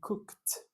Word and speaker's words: cooked: Esse ed de regra ele não é pronunciado, né?